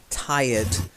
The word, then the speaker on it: tired: And the next one, which also has an ed ending, but it is a silent e. Tired.